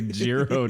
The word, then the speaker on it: Jiro: Dreams of Sushi because it's actually Jiro Dreams of Sushi and you kept saying Euro as if we are at I'm hungry now I have I have gotten to that point where I just pronounce my Jay's you know wow yeah